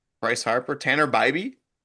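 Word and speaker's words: Bibee: Last name is pronounced like by B.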